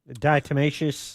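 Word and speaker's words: diatomaceous: Is that how you pronounce that? Dietimmacous.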